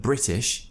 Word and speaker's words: British: the word whatever too many people join my British pronunciation course and they pronounce the word whatever and the word British as whatever and British obviously that's not what